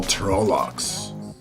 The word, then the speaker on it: Trolloc: You and your Pronounce this. princess. The horned skull of the Daval Trollocs.